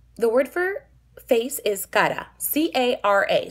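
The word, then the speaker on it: cara: word for face is kara c-a-r-a so if you see that word written it's kara for most english speakers right well that is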